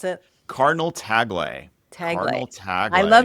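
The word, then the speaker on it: Tagle: So how do you pronounce it? Cardinal Taglay.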